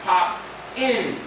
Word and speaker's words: Popping: the G it's not pop my name is pop in because pop in P not pop in PE so that's that's how you really pronounce it's called pop and PE so uh